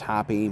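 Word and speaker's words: Hoppe: I thought it was Roger Hop I Hoppy. Yeah, his last name is pronounced Hoppy.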